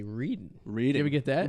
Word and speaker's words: Reading: the people from out of town they say reading read it we get that well there is a Reading Pennsylvania and they call it reading it's about